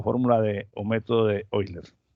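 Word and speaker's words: Euler: de un método de oilers algunos dicen hola yo creo que me parece que la forma correcta de pronunciar es hoy les pero de ello no estoy totalmente seguro entonces la principal causa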